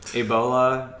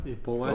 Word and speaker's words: Ebola: I always say it wrong, but Ebola. Ebola. Oh, yes. You were actually really good until you added the hanging eye there.